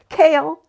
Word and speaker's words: Kale: Cale, pronounced Cale, yet nothing like the vegetable, has coffee-colored eyes and smooth maple skin.